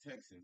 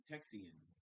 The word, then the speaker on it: Texan: You adding that extra syllable to that word. I thought it was just Texan. You saying Texian something. Yeah, Texan. You ain't said it the first time. You said like Texian or something.